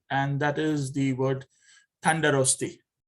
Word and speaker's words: Tandarosti: If, again, I'm from the city of Esfahan in Iran, I'm going to be saying Tandarosti. That's how I'm going to say it.